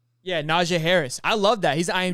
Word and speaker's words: Najee Harris: the field this season is I don't know Harris Kanaja, I believe that's how you say his name. Yeah, Najee Harris.